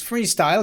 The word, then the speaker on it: Freestile: And then the second game we're going to be looking at is Freestile. Good play on words there, where it's freestyle, but the style is spelled like a tile because it's a tile-based game.